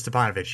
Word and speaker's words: Stipanovich: Stipanovich? Is it just that easy? I'm 99% sure it's Stipanovich, yes.